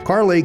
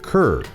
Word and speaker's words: Kerr: he's gone now Carly can be pronounced several different ways depending on where you're from you might say Cur as opposed to car or if you're from